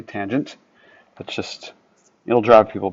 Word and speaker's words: tangent: Don't say tan. Say tangent.